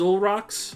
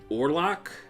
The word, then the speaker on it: Orlok: and all rocks so the name is actually a mistranslation based on the way it's spelled in Japanese it's supposed to be or lock which is the name of the vampire from the movie Nosferatu which was pretty much a